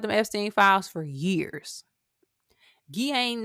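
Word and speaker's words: Ghislaine: Guain Maxwell, that's how you pronounce her name.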